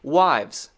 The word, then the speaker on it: wives: it's much faster it's you need to go straight from the v to the z this is remember the v sound here we talked about that one right directly to the z sound there's no break not